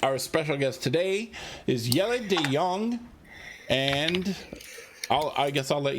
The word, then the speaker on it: Jelle de Jong: Jelle de Jong is how you exactly pronounce it here in Amsterdam, the Netherlands.